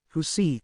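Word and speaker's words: jusi: form a kind of cloth known as juicy pronounced as who see from which the barong tagalig the national costume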